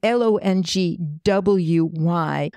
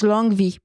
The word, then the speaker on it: Longwy: One of them is an interesting town in the northeast called it's written Longwy, but it's actually pronounced like a V.